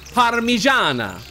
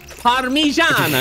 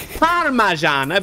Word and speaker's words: Parmigiana: In Italy, they pronounce it as Parmigiana. Parmigiana, not Parmigiana, because they're cultural.